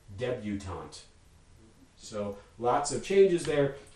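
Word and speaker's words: debutante: english is going to impose english phonotactics on it and make it debutant so lots of changes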